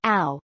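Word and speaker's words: ഔ: Read the English words. Out, ounce. Here the beginning sound of English letters O and U is corresponds to the sound of this Malayalam letter. That is ow. Now you know how to pronounce this Malayalam letter clearly. Yes, it is ow.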